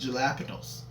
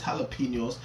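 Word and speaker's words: jalapeños: come on her clavicle I know it's not pronounced J apos but again that's a bar you get me I know it's jalapenos I learned a new pronunciation yellow yellow penel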